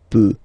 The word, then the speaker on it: peut: Je peux, tu peut. Then, il, elle, peut. So you will put T at the end, you don't pronounce it.